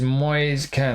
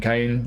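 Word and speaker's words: Moise Kean: And our second striker is Moyes Ken. I'm going to say it like that this time. It seems like every commentator has a has a different pronunciation. Moyes Moyes Ken Keen Kane. I'm going with Moyes Ken this time.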